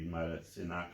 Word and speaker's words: Matasinach: And the two crosses, the four directions, times two, is by Matasinach, which usually is mispronounced and misspelled in other papers, but I'm telling you it's got to be Matasinach, which is simply small stones, who signed the New Paltz patent in 1677.